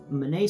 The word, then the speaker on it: Bonnet: and I have Charles Manet syndrome, which is spelled bonnet, by the way. Yeah, the French pronounce bonnet Manet.